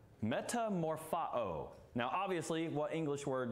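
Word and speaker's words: μεταμορφόω: let me go back it's pronounced Metamorpho in the Greek Metamorpho now obviously what English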